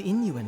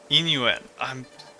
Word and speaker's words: Yin Yuan: I think Yin Yuan is what I'll go with. Yin Yuan. Where I will just ignore the Y's, because I don't think I can pronounce them softly enough.